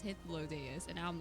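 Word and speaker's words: Hythlodaeus: name being pronounced so i always thought it was hyphalodeyus but it's his low day is and now i'm like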